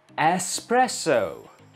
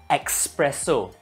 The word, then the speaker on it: espresso: that we are going to learn today is espresso yes PR e SS o s presto and how do you pronounce it in Malaysia thank you in Malaysia we pronounce espresso ax s expresso e x PR e s o expresso all